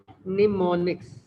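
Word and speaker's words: mnemonics: सभी लैंग्वेज के अंदर इन्हने एक टर्म जो है ना एक चीज इंट्रोड्यूस करवाई जिसको हम क्या कहते हैं निमोनिक्स ठीक है ना with am silent am silent निमोनिक्स एम हमारे पास क्या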